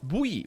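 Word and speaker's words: buoy: boy boy boy boy Bowie Bowie that's Bowie is how it's pronounced and it is horrible that it's pronounced like that because I don't know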